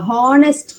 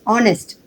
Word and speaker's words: honest: the second one is horest it should not be pronounced horest it is honest okay you have to